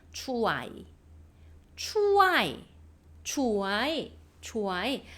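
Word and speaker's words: ช่วย: 초아이 원래 어떻게 있냐? 추아이에요. 추아이. 그런데 뭐 우리나라의 발음과 태국어의 발음이 100% 일치하진 않잖아요. 우리가 들어보면 추어이 이렇게 들려요. 추아이. 추아이. 자, 추아이. 추아이. 추아이. 이렇게 읽어 주십니다.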